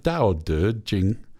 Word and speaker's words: Tao Te Ching: Tao Te Ching.